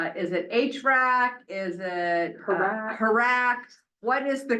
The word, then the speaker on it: HRAC: Is it Harac. Harac? What is the correct? And then what does it stand correct for? pronunciation is as a crow would say, Harak.